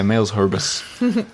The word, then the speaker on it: Cité Malherbe: It's spelt like males, as in Males. opposite of females, Yeah. and then herbs with an extra E there. Males herbs. Yeah, males herbus. But just watch to see